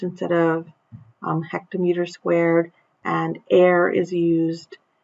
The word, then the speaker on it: are: hectare is used instead of hectometer squared and air is used it's pronounced air and it's used instead of the deca-meter squared